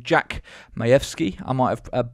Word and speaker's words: Majewski: people pronounce it jack majewski or jack majeski um but he's polish and it's actually pronounced mayevsky um and this is